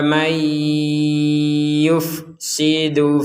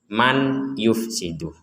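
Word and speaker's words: من يفسد: Ataj'alu fiha may yufsidu fiha. Di sini ada nun sukun bertemu ya. Kita membacanya mendengung. Jangan dibaca jelas ya. Kalau dibaca jelas menjadi man yufsidu.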